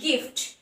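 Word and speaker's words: gift: গিফট same ভাবে যদি জি এর পরে আই থাকে তাহলে যা হওয়ার কথা, কিন্তু এটা হচ্ছে গিফট, গিফট মানে গয়ের উচ্চারণ আসছে, গিফট, গিফট।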